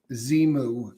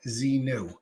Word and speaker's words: Xenu: voice talking about Xenu now he says Z moo right um XM I mean x-e-m-u zemu not Z new he actually goes as